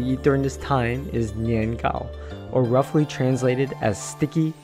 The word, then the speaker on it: 年糕: during this time is nian Gao or roughly translated as sticky cake in Chinese sticky is pronounced the same as the word for year and cake also has the same pronunciation as high so this punny dessert